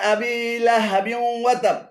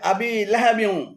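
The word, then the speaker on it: أبي لهب: শুদ্ধ পাঠ হল আর ভুল অশুদ্ধ পাঠ হল তাব্বাতিয়াদা আবিলা হাবিতাবাতিয়াদা আবিলা হাবি এখানে আবিলা এবং হাবি উভয়টি ভুল উচ্চারণ শুদ্ধ উচ্চারণ হবে আবিলাহাবি আবু লাহাব আবু লাহাবের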